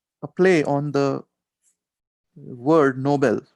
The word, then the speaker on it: Nobel: play on the word nobel right noble even though it's pronounced the same as noble means something different nobel